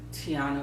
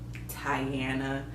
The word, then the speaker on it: Tiana: where I grew up Tiana was not a common name meaning that people like my teachers teachers used to make it seem like my name was so hard to pronounce I was teenager Tyanna Tanaya even though my name is five letters three syllables so when Princess and